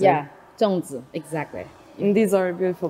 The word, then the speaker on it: Zongzi: Zongzi, exactly.